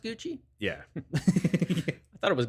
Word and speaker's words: Gucci: Is it pronounced Gucci? Yeah. I thought it was Gucky.